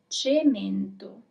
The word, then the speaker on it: cemento: So, our first word is cemento. I'm gonna repeat it one more time. Cemento.